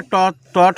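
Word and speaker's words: taught: शी इज अब teach का टॉ टॉट होता है। टीच का क्या होता है? टॉट। टॉट का स्पेलिंग होता है टीच का वर्ब थ्री टॉट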